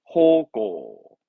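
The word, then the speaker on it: 方向: 발음은 호고, 호고.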